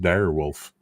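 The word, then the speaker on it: Dire Wolf: there she says technically that Mech you're talking about is pronounced dir wolf I pronounce it dead wolf well you know technically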